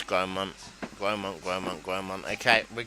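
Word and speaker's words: Grosmont: It's Gromont. Gromont, Gromont, Gromont. Okay, we're going with Gromont. But yeah, no, I was firmly in the Grosemont camp.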